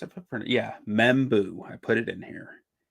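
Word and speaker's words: Membou: I mean that's that feels like it's membu that's how it's pronounced big M&M right I think that's how it's pronounced I put yeah membu I put it in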